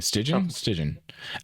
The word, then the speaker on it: Stygian: Stygian.